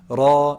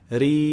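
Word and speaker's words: ر: be heavy and light raw is heavy ri is light and so so it's actually pronounced based on its location or where is it located in the word there's a kasra before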